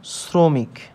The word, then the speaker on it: শ্রমিক: আমাদের কি উচ্চারণ হচ্ছে আমাদের কিন্তু দন্তস এস এর মতন উচ্চারণ হচ্ছে অর্থাৎ এরকম শ্রোক এরকম